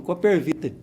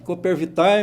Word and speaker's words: Coopervitae: Pensa, pô, sou assim, dessa gestão e foi aceito, e aí veio o nome, Coopervite. E o pessoal fala Coopervitae, mas aí a pronúncia certa é Coopervite, né?